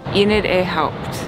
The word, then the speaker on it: Enid A. Haupt: How do you pronounce the name of this garden? Enid A. Haupt.